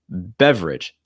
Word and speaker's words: beverage: li our next one beverage beverage just like average beverage that second e is not pronounced and again you have